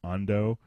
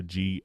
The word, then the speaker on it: Gondo: So it's just Gondo. So Gondo, kind of like condo, but with the letter G.